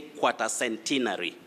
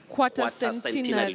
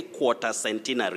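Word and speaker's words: quatercentenary: and our dear viewers you say quarter centenary quarter centenary don't say quarter centenary all right quarter there is no r after a all right it is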